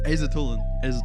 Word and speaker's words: Aisatullin: Aisatullin.